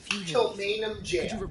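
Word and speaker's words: Kilmainham Gaol: Kilmainham Jail. That's the name of it, and it's spelled like Hypogean Jail, like Gaol.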